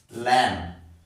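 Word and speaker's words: lamb: कंगार मीस kangaroo 39 एल ए एम बी लम लम बी में silent रहेगा क्या पगा ल ल ल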